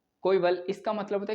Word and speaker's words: coeval: आगे हम लोग बात करते हैं जो कोविल लिखा हुआ है, कोइवल, इसका मतलब होता है